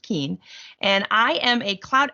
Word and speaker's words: Keuhn: It doesn't look like it's pronounced Keen, but it is pronounced Keen.